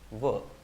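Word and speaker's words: were: And don't pronounce it way, pronounce it as like this, pronounce it एज वर।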